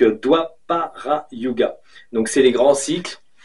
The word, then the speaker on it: Dwapara Yuga: Alors, ça fait DW. Donc DWA, doit. Donc Dwapara Yuga.